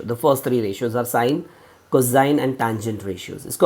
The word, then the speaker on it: sine: So you know the trigonometric basic ratios are sine ratio SINE, cosine ratio COSINE and tangent ratio. The first three ratios are sine, cosine and tangent ratios.